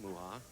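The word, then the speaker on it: Mucha: Well, he's been married 12 years to Kim Muha. His name is spelled M-U-C-H-A, by the way.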